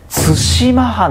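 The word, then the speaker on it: 対馬藩: これが対馬藩って読みますからね。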